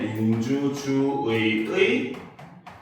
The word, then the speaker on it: 민주주의의: 여기서 보면 민주주의 할 때 의는 뭐야? 둘째 이하의 음절에서 발음이 되잖아요. 그쵸? 그렇기 때문에 얘는 의로 발음을 해도 되고 이로 발음을 해도 됩니다. 알겠습니까? 그 다음 얘는 조사의이기 때문에 그쵸? 조사의죠. 그쵸? 그렇기 때문에 얘는 의로 발음하는 게 원칙이지만 에로 발음하는 것도 허용을 한다는 거죠.